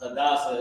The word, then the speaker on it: Hadassah: Her name is Hadassah in the Bible as well, but the correct pronunciation is right there, Hadassah.